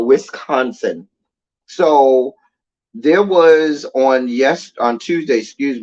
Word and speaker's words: Wisconsin: That's what my little brother used to say, West Cousin. It's West Cousin. Anyway, but Wisconsin.